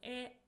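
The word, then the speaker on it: へ: Particle E. So this is a direction particle. It is pronounced as e but we write it as hiragana.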